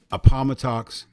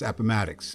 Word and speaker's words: Appomattox: And I really thought Grant took Lee's sword, the surrender of the South, was at Appomattox Courthouse. Well, a couple of years after, it's Appomattox, because, it pronounces.